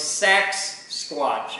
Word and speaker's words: Sasquatch: Okay, and we're not saying it wrong, it's Sasquatch, and you should see the logo, it's on his Facebook page.